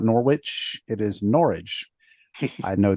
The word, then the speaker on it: Norwich: you see it spelled n-o-r-w-i-c-h it is not Norwich it is Norwich I know this because I got corrected when I lived you know that was told it's pronounced like it's porridge I was like oh